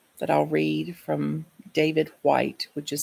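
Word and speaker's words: Whyte: is a poem that I'll read from David White which is spelled w-h-y-t-e so I offer it here as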